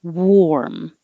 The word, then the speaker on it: warm: ego ego and 12 is spelled with an a but sounds like an or warm so you can think of it as war i wore this yesterday